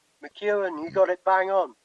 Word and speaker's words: McEwan: I don't know if I pronounced that McEwan? McEwan, you got it bang on.